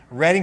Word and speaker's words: Reading: And it just makes me so warm and excited to see so many people here in Reading, Pennsylvania. I'm pronouncing that correctly. Reading, Pennsylvania, to support scouting, to support young people